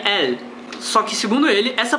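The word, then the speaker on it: אל: Em outras fontes eu descobri que se pronuncia El.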